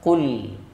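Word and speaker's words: قل: Kalau dibaca qul qof maknanya katakanlah atau sampaikanlah ya. Tapi kalau dibaca kaf qul maknanya apa? Makanlah. Ya. Maka pengucapannya harus tebal Bapak Ibu. Qof tebal qul cuman tidak boleh berlebih-lebihan.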